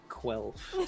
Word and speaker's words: Quelf: I think that's the actual pronunciation. Yeah. Like, if you were to actually read it out loud, how the game makers intended, it would sound like that.